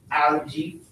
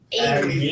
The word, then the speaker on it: Ailey: Algae. Ailey. Ailey. Hey, Ailey. I was sure they didn't spell it right.